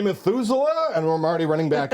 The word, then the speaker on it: Methuselah: And I gently and then I run run say Methusela. And I'm already running back as I ask. You have to really put some stake on the last syllable otherwise it won't work.